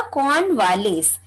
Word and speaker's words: Cornwallis: पुष्कर, वो Lord कॉर्नवालिस, क्या pronunciation होगा? कॉर्नवालिस।